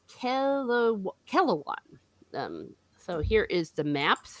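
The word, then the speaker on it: Kelewan: of the Sarani, and I mispronounced it one time already. It is Kelawan.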